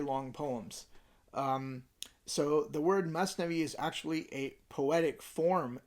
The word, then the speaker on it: Masnavi: The word Masnavi is actually an Arabic word, Mathnawi, but in Persian the tha is pronounced as an S, and it consists of rhymed doublets.